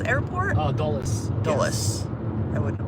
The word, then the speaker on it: Dulles: Karin got close to the Discovery Orbiter once because she went to the Air and Space Museum by Doul's airport. Oh, Dulles. Doulles. I wouldn't have pronounced it like that.